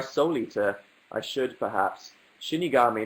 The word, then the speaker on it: Shinigami: eater I should perhaps Shinigami not shimmy garmi oh god you guys